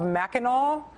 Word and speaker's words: Mackinac: They are, if you phonetically read the name of the think tank, it is Mackinac. They apparently prefer to be called Mackinac.